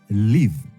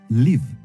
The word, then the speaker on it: live: Live. Écoutez bien comment ça se prononce. Souvent, les gens s'en trompent. Ce verbe signifie vivre et on le prononce comme ça. Live.